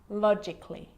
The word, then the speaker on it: logically: Now, the letter A can be silent, especially in words that end in A-L-L-Y, like these. Romantically, musically, logically. So I'm not pronouncing romantically, musically, and logically. Cut the A out. Get rid of it.